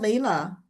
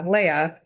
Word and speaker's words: Leia: Yeah, yeah, Leia. Always I think of Star Wars. Um, that tends to help people remember my name.